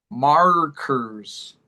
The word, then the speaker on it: markers: Markers. Markers. Yeah, this is another interesting one. The A has a sound, but the E does not. It's the R that's important.